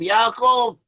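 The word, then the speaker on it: יעקב: The name Esau in Hebrew is pronounced as Esau and Jacob, Yaakov.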